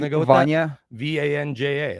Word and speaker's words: Vanja: Vanja. It's Vanya. Okay, Vanya Marinkovic.